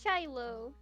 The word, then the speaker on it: Shiloh: I've never known how to pronounce that name. It's Shiloh. Shiloh, okay.